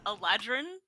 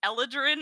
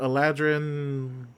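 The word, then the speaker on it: Eladrin: only read it uh aladrin yeah until you pronounce it you nailed it i i saw someone say like elodran and i was started sweating because i've been saying a legend my whole life it's okay nobody knows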